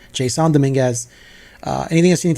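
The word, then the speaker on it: Jasson Domínguez: need to see from Jason Dominguez Jon Dominguez sorry that's how he pronounces it that's I'm just going to respect this guy that's how I pronounce it Json Domingas uh anything else you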